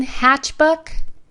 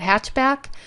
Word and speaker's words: Hatchbuck: of that so again hatch book um it's a funny name and I mispronounced it all the time I keep wanting to call it hatchback but it is a